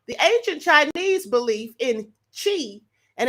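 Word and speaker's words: qi: ancient Chinese belief in Chi and it's spelled q i but it's actually pronounced cheap okay means vital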